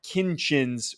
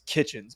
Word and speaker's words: Kinchens: you pronounce it but I always make the mistake and I think a lot of people think it's kitchens but it's not cam kitchens from Miami